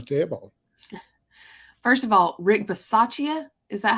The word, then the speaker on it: Bisaccia: First of all, Rick Bisaccia, is that how you say it?